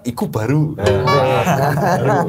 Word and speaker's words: Ikkubaru: baru tu apa ya iku kalau dalam bahasa Jawa kan iku baruu baru cara bacanya iku baru Nah ini kita kita